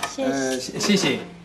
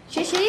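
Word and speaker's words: 谢谢: Xie xie. Xie xie?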